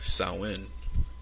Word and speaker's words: Samhain: ancient Celtic festival of Samhain or pronounced sow in the Celts who lived